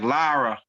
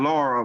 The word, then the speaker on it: Lyra: Yeah, like Lyra, not Laura, but it sounds the same though.